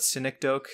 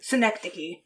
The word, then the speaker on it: Synecdoche: recently he did anomalisa and then i never pronounced this correctly but cynic doke new york exact close enough cynics oak i believe it's schenectady synecdoche new york damn oh okay okay like the